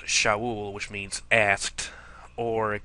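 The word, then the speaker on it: שָׁאוּל: um so anyway Saul from the Hebrew word pronounced Shaul which means Asked or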